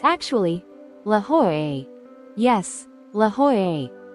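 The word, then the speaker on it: La Jolla: look like lala but in Spanish the Double L is pronounced like a y so it's actually La ho yes La ho it's simple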